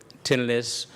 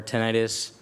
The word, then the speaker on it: tinnitus: So the question was about tinnitus or tinnitus. It's really a potato type of deal. There's no right or wrong pronunciation.